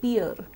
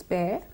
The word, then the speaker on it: fair: classes PE AR we sometimes call it fear that is wrong it's fair and that of course